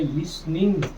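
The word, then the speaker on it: listening: अब यहाँ टी क्यों नहीं पड़ा? देखो जब भी बीच में कहीं पर भी एस टी आ रहा हो तो टी लगभग साइलेंट हो जाता है। इसे पढ़ेंगे लिसनिंग। इसे पढ़ा लिसनिंग।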